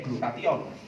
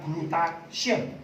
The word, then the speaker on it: glutathione: Glutathione itu bacanya ya glutathione, bukan glutation, bukan.